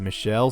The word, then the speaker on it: Michael: Hugo Drax played by Michael Lonsdale but I've also heard it pronounces Michelle so also I'd like